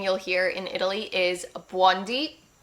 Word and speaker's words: buondì: It's actually, I find it very cute, but she's saying buondi. So she's stressing the beginning, but we stress the end because there is an accent. So we would say buondì. Buondì. That's how you pronounce it in Italian.